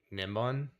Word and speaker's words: Nimbon: Oh, and a lot of people reminded me that I pronounced Nimbon's name wrong. It's actually Nimbon. So I was saying that wrong the whole time, and that's fantastic.